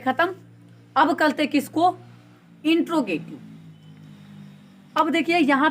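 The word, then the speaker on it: interrogative: काफी लोग भी बोलते हैं इंट्रोगेटिव, लेकिन ये इंट्रोगेटिव नहीं होता है, इंटेरोगेटिव होता है। क्या होता है, इंटेरोगेटिव। इसको, इसका जो एकदम सही प्रोनाउंसिएशन है वो है इंटेरोगेटिव, ठीक है, समझ लीजिएगा।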